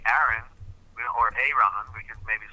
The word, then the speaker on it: Aaron: We could maybe say it that way as well, but it's Aaron. Only one pronunciation with two A's because one is silent, a consonant, one is a vowel.